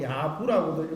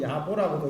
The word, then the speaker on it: 야보: 그 다음에 야보도천이라고도 하고 야부라고도 있고 야보라고도 있는데, 이 부분은 전통적으로 야보라고 이름을 그냥 그렇게 읽습니다.